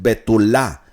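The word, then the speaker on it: betulah: La palabra virgen en hebreo es betulá. Es betul con acento en la última a.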